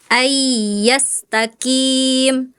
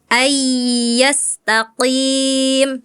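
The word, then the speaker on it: أن يستقيم: Tadi kakak bacanya ayyastaqim harusnya ayyastaqim ya, Kak ya. Qof dan kaf memang sama-sama pangkal lidah tapi ada perbedaan sedikit.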